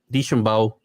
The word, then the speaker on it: DeChambeau: Remember during Deschambeau, how do you say his name? DeChambeau.